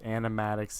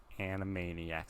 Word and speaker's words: Animaniacs: this Roger G okay can't pronounce animatics either any Animaniacs animatics Animaniacs it's probably Animaniacs I've heard it I've heard Animaniac said before so I think that I think I just messed up on that one in the instance